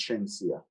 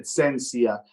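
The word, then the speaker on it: Shenseea: the verses which um he pronounced centia's name incorrectly yeah i don't know if this is how he pronounced things i took it offensive because it's not that difficult to pronounce shensia and he said sensia some people will say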